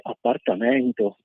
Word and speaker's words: appartamento: parole dialettali o proprio la mette l'accento sulla e aperta di appartamento che appunto così uno correttamente legge appartamento è quello che è